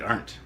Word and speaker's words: Ardent: Ardent is pronounced like aren't. So aren't.